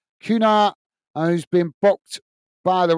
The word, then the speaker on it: Cunha: So it's Kuna, who's been booked by the referee, the Wolves player. Is that how you pronounce it? Kuna. Cunha.